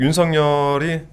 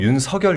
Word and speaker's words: 윤석열: 근데이 그 윤성열이 제가 이제 발음을 할 때 윤성열 이렇게 발음을 하거든요. 네. 근데 이제 대부분 윤석열 이렇게 발음하잖아요. 뭐가 맞나요? 그니까 아 이거는 한자로 보면 윤석이 맞는데 그 얘기를 하더라고요. 본인이 이제 원하는게 윤성열로 들리길 바랬다고.